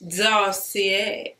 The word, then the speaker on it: Dossier: You gotta say it like that, Dossier. You know, you gotta kinda put that little twang on it.